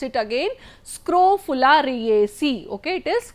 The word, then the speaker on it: Scrophulariaceae: Okay, I will pronounce it again, Scrophulariaceae. Okay, it is Scrophulariaceae.